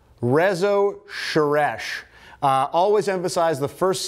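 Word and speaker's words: Rezső Seress: I will admit I had no idea how to say the name of the author of Gloomy Sunday, and it turns out it is Rezo Sheresh.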